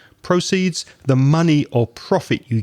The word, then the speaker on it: proceeds: list of words but if you change the stress you get a different word proceeds proceeds the money or profit